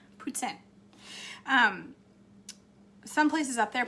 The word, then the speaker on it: poutine: is not but um i'm trying to say it right amber am i not saying it right puts in not poutine putin um some places up